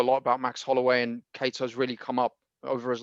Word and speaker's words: Kattar: It's Max Holloway against Calvin Kattar, or Kattar, whatever. It's Kattar, isn't it? That's the way they pronounce it.